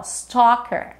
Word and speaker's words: stalker: um Stalker um Stalker a gente não fala esse L ó Stalker staler e a outra